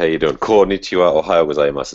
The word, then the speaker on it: ohayo gozaimasu: you doing cool nichola ohayo gozaimasu is actually the correct way to say good morning in japanese